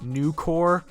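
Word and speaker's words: Nukor: I that's right nuker it's probably supposed to be pronounced new core but I think de was completely aware of what they were doing so I feel it's more appropriate to call this thing nuker nuker is a grineer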